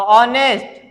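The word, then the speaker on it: honest: तो ऑनेस्ट, honourable, air. अब हमारे कुछ ऐसे यच होते हैं जो जहां पे एच हमारा साइलेंट नहीं होता। यहां पे तो एच हमारा क्या था, एकदम साइलेंट।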